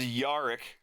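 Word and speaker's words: Jarik: organize all of this this is yarik spelled with a j shot one yarick shot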